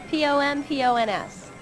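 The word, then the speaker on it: pompons: Spell it. P-O-M-P-O-N-S.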